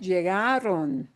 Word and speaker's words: llegaron: Now, let's take a look at llegaron. Last letter is an N. We again punch the second to last syllable. Oh, that's what I expect. If the pronunciation follows that rule, yes, ends in an